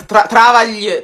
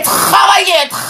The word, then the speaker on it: travailler: Travaglie, travaglie. È travailler, lo senti? Travaglie.